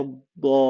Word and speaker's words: الضالين: You will notice that we stretched the vowel of mad by 6 beats. 6 حركات. 6 حركات. Again, more examples. ولا الضالين.